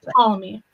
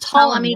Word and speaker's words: Ptolemy: So there's Ptolemy. I do know that, but we don't. Right. So you don't pronounce the P.